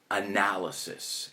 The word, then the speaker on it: analysis: En inglés se pronuncia analysis, an analysis of what you hear.